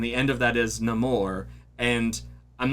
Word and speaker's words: Namor: If you haven't seen the movie, you're like, that's not how you say his name. His name is Namor. No, they changed it in the MCU.